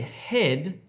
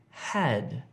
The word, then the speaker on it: had: Don't say head if you're trying to say had. Head, had.